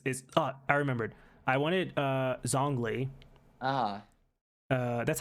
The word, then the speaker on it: Zhongli: I wanted Zhongli. Ah, That's how you say his name? It's Zhongli, yeah, right?